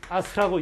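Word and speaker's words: 飛鳥: 비조라고 써놓고 지네들이 읽을 때는 뭐라고 읽는다고요? 아스카라고 읽는다. 이거 아스카.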